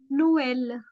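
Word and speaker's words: Noël: We call it नो एल नो एल। Okay? मेज़ को कहते हैं माइस। माइस। तो ई की साउंड आती है। ओके? यहां पर जो है उसकी साउंड आती है।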